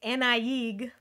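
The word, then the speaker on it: Annaig: a young breton named nieg a-n-n-a-i-g for those of you following along and i did not pronounce it that way as i was reading it but thank goodness for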